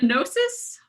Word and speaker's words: Gnosis: I'm sorry, is it pronounced Gnosis?